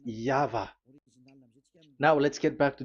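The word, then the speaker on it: Yahweh: The original one is V and there is no more explanation but that is the phonms the pronunciation pronunciation is equal V. It is V. Y H V H. So it is Yava.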